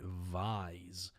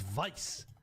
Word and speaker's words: Vice: Who the pronouncing it Vise? It's Vice.